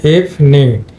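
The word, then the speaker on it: evening: কিন্তু তাহলে হবে সেম এখানে কিন্তু ইটা আবার সাইলেন্ট হয়ে যাবে এটা এখানে হবে ইফ নিং ইফ নিং এখানে লং ইফ এটা কিন্তু দুইটা সিলেবল হয়ে যাবে ইফ ইফ নিং দেখো ট্রান্সক্রিপশনটা দেখো ইফ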